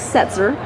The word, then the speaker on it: Setzer: So we cornered the lead vocalist, Dennis Setzer. Did I pronounce that correctly?